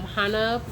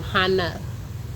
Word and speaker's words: Hana: me do my disclaimers I am Hana um not like hona Lulu like the island in Hawaii um that's how you say my name Hana okay Al so um